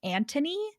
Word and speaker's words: Anthony: this in the show, they say his name Anthony, like Tony. Yeah, I was gonna say that. Yeah. And then, but we've been saying it Anthony, and that's how it's spelled.